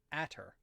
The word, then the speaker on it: Atter: uh Calum atter ateer or atter pronounced Calum at her got it long a